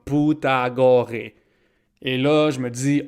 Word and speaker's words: Pythagore: onevait aus commandes rapidement Pythagore vient au monde sur l'île de Samos en Grèce d'ailleurs son nom on devrait probablement prononcer comme putagoré et là je me